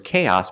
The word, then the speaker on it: chaos: With chaos, the stress is on the first syllable on the a sound. K. Chaos.